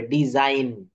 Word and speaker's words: design: আচ্ছা, তারপরে কি আছে দেখেন, রুল 5, ওয়ার্ডের শেষে জি এন থাকলে, জি এবং এন থাকলে তার উচ্চারণ আইন হয়। আইন, দেখেন আ ইন, জি এন, এক্ষেত্রে জি অনুচ্চারিত থাকে, যেমন DESIGN, এই যে বলেছি আইন হবে ডিজাইন।